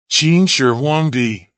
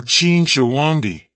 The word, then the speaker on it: Qin Shi Huangdi: chin Sher wangi or Ching sha wandi in standard pronunciation was the first emperor